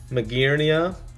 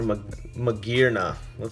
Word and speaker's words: Magearna: Magearnia, or Magearna. Let me pronounce it correctly.